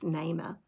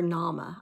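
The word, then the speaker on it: Naamah: wives that is mentioned is nema or nama i think is probably the way it's pronounced um and she was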